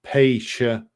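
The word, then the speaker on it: Pécs: Greetings from Paish, I hope I'm pronouncing that right, Southwest Hungary. I'm pronounced Paish, CH like Chihuahua.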